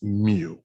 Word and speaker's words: mu: symbol right here and that symbol right here is pronounced mu it's a greek symbol all right um and